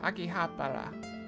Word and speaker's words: Akihabara: So he pronounced it different. Akihabara. With a rolling R.